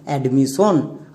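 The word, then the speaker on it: admission: এবার একসঙ্গে উচ্চারণ করো। অডমিশন। এডমিশন। আমরা একে ভুল করেও ডমিশন এরকম উচ্চারণ করবো না।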